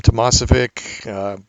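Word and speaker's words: Tomasovic: easy to find Tom Tomas if ik I'll spell it for you it's t o mas o VI C just the way it sounds if you if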